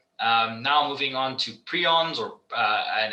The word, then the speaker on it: prion: of the lecture um now moving on to prions or and it's it's this is actually pronounced prion because there are it's quite a